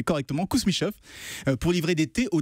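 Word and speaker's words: Kousmichoff: été fondé par la famille kousmichof je vais prononcer correctement kousmichof pour livrer des thés au tsar hein de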